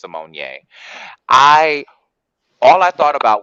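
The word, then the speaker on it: Symoné: was raven simonier and that's really how her name is pronounced simonier i all i thought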